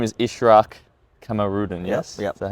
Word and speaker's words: Ishraq Kamarudin: But your name is Ishraq Kamarudin, yes?